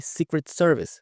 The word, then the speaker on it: Secret Service: Secret, aqui a gente não pronuncia esse T, Secret Service, secret.